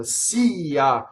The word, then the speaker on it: sia: saying in this case so see yah just remember that it's nots yah okay and the plural